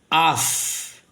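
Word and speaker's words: אף: Não tem o pontinho dentro, então é o fe, som de F, que é a palavra, vamos pronunciar aqui.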